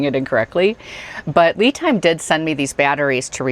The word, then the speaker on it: LiTime: I do also want to say the correct pronunciation is LiTime, not LiTime.